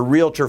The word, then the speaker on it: realtor: the realtor family the realtor family that's realtor two syllables real tor r-e-a-l-t-o-r it's a registered mark and